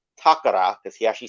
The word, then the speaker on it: Takara: toys lately he's been covering a lot of takara or as it's properly pronounced takara because he actually says it right unlike the